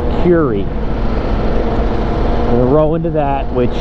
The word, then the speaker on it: Kure: and into Kure Beach which I was mistakenly pronounced pure beach for a couple years until somebody told me otherwise but its Puri we roll into that which is mostly beach